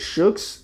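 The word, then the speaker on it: Shokz: I forgot how to pronounce it. What is it? Shooks.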